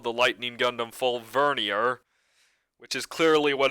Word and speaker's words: vernier: important honestly but yeah they say Bernard here but it's judging by the pronunciation it's obviously supposed to be vernier I mean it doesn't